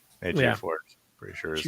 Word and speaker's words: Ejiofor: So, Chiwetel Ejiofor. Wait up. I said your words. Quickly, I said your words. I think you got his last name right at least. Ejiofor. Ejiofor.